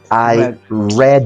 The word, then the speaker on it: read: muy claramente allí pero en pasado leer se pronuncia como el color Okay read it as Kid me